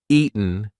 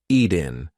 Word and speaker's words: eaten: little bit eaten eaten that t is followed by a weak n sound so we are not going to say eaten we're going to say eaten eaten now listen if I don't use the glottal stop if I don't say any kind of T pronunciation Ian Ian that does not work it's eaten we haven't eaten in 3